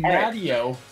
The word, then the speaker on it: Matteo: I'm not Mateo. Fucking Spanish. Pronounce no, Matteo.